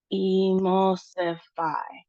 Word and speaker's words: emulsify: emulsify So, emulsify, we see that the M is stressed, and that there's a lower stress on the last syllable.